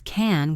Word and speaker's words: can: If I say this slowly and clearly, I pronounce can with a short A sound like cat. I can do it. But in a normal conversation, can is usually an unstressed grammatical word. So it reduces to a schwa.